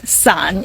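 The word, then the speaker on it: 伞: same thing with umbrella umbrella is pronounced as sun in Chinese now sun has a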